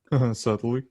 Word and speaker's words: subtly: subtly toxic way of Subtly. subtly rhymes with Italy, the place where I get pizza.